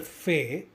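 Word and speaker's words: فاء: To pronounce Fe, place your frontal teeth on top of your lower lip, just like the picture, and say Fe.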